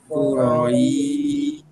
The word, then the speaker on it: قريش: আচ্ছা, এখানে কুরাইশ অর্থাৎ এই এই আলাদা আলাদা না হয়ে কু রইশ এই অংশটাকে একসাথে মিলিয়ে রাখতে হবে, তিনটা হরফের উচ্চারণকে। রইশ এক টানে শেষ হবে। এখানে যেন র ইশ এইভাবে দুই অংশ না হয়।